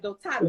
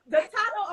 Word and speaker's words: Dotado: Dotado. Yes, you got it on point. You got it on point. So Dotado Apparel encompasses several aspects of fashion, including men